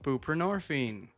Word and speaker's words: buprenorphine: me go look these up so I can pronounce them correctly. Okay, that was right. Suboxone, buprenorphine.